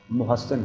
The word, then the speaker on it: محسن: میں ہو گیا تھا۔ اردو والے اس کو محسن پڑھتے ہیں لیکن صحیح تلفظ اس کا محسن ہے۔ ایک نواسے عبداللہ بن